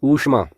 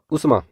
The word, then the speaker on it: ऊष्मा: में लिखा गया है इसका सही उच्चारण होगा ऊष्मा अर्थात दीर्घ यहां पर जोड़ा गया है तो शब्द बनेगा ऊष्मा ना कि उष्मा अगला शब्द है ऊंचा